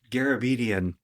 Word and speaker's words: Garabedian: Kayla Marie Garabedian.